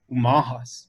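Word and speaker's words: Umoⁿhoⁿ: Umahas, you know, and this is how Right. you pronounce that tribe, with a U, not an O. So I live in the city of Omaha, but the Umaha is the people.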